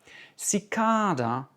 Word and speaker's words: cicada: Cicada, accent sur la deuxième.